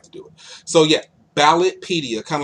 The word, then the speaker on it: Ballotpedia: If you're looking for something more of a national scale, then you can look at a website that I go to called Ballotopedia.